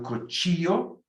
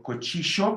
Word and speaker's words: cuchillo: El vaso, el plato, el gobierno, el cuchillo, or cuchillo. Remember the double L can be ya or sh.